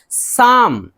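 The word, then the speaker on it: psalm: साम, साम के अंदर देखिए साम में एस से पहले पी है, नहीं पढ़ रहे हैं, साथ ही साथ यहाँ एल भी साइलेंट है दूसरे कायदे की वजह से, साम इसको पढ़ेंगे।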